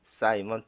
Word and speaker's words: Simon: 자, 영어 발음은 사이먼 피터. 사이먼 피터가.